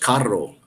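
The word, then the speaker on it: carro: something but it's pronounced Caro then you kind of roll your r's um street is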